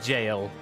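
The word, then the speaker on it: gaol: to guard the jail yes that is how that word is pronounced G AOL L it's jail that's where jail comes from Temple Knights loyal to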